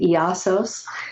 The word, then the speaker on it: Iasos: name I I uh I pronounce it iasos but it's i-a-s-o-s and the music that